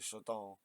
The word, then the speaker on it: Chardin: So it's spelled Chardin, but I swear that's French, so that's Chardin. Like garden, jardin, but Chardin.